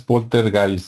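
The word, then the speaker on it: Poltergeist: los fantasmas y el Porter gay o o bueno polter guys No porque nosotros lo pronunciamos como se escribe pero como es alemán supuestamente es polter guys no y este las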